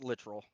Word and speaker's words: Littrell: Is it Littrell or Littrell? Yes, they're both technically correct, but the family here says literal, but we accept Littrell. literal.